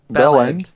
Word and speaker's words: bellend: saying Belon Belon and Bell end your ballot PLL space Andy oh absolutely there is no space but just say bellend they say it so fast they say like this